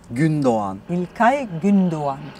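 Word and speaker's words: Gündoğan: Turkish you took all the the Turkish onesan gundan gundan yes you don't pronounce the the the gay once again gundan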